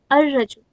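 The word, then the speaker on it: الرجل: And last word is rajul, rajul, जिसको हम definite noun अगर बनाना है तो how do we pronounce it? ar-rajul means the man, okay.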